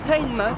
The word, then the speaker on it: Teignmouth: Mais avec la prononciation anglaise, la première fois qu'on m'a dit Teignmouth, j'ai répondu No, I'm single, je n'ai pas de meuf.